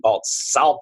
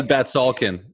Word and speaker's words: Batsalkin: so without further Ado let's go ahead and introduce Our Guest Mr Danny balt Salin I told you I'd it